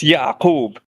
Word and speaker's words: Yaqub: And Yakubian or Yakub, it's just an Arabic name. It's Yaqub.